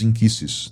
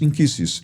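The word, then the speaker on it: nkisi: E você falou dos inquisses, né? Eh, começa a palavra com N, né? N K I S I, né? Isso. Porque a pronúncia do N da linguagem queimbundo é in.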